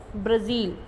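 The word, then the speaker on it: Brazil: ठीक है, south America में लार्जेस्ट कंट्री है ब्राज़ील. ठीक है, इसका नाम है ब्राज़ील. ठीक है, ब्राज़ील नहीं बोलते हैं, इसको ब्राज़ील बोलते हैं.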